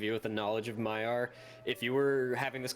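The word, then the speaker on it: Maiar: has like I'm sorry you're asking about the Mayar did I say it wrong no you said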